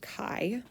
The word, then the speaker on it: chi: um this is the chi-squared and it is pronounced chi um is that you would take the sum